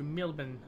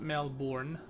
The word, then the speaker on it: Melbourne: reached melburn yet or how they say it uh in their local slang mbour so we're going to mbour not melbourn mbour I'm liking the Oro